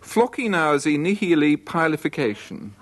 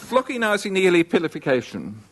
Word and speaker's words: floccinaucinihilipilification: Floccinaucinihilipilification. And if you'd like to write it down, you better fill up your pen first. Couldn't say it again a bit faster, could you? Floccinaucinihilipilification.